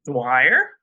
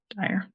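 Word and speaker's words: Dyer: book it is by Dr Wayne Dwyer Tire dire sorry I said it wrong um you'll believe it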